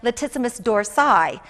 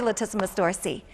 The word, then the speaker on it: latissimus dorsi: that muscle is the latissimus dorsi sometimes it's pronounced latissimus dorsi but I'll say latissimus dorsi oftentimes it's just referred to as the lats